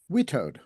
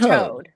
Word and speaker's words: WITAOD: WETOD. It's like WETOD. Wittes. All right, I'm on WETOD watch. No, not and we. You don't pronounce my name Wheatus. Oh, It's Witoad. WITOD.